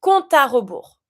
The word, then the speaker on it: compte à rebours: And you see here, when it comes to compte finishing with an E, there's no accent, it's mute. But because of my A that follows, I'm going to avoid my E to pronounce my A straight away. Le compte à rebours.